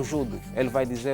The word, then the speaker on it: judo: atenção os na L na pronúncia japonesa é é chamada de é pronuncia-se judo judo nós aqui em África angolanos e moçambicanos os portugueses dizem judo o brasileiro diz judô judô mas a pronúncia do Japonês é judo se você for angolano